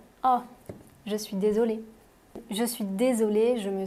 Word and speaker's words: désolée: Si vous êtes une fille, je suis désolée. À l'oral, on n'entend pas la différence, mais à l'écrit, il faut le E.